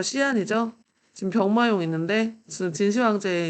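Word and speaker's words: 西安: 장안은 그 전에는 이제 호경이라고 불렀었고, 그리고 지금 현재는 이름이 뭐냐면 그 서안이에요, 서안. 중국 발음으로 시안이죠.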